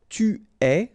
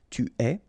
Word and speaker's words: tu es: Okay, so je suis, final S not pronounced, tu es, okay, so it's quite strange because you get this ES, but then phonetically it's est, alright, quite open, tu es.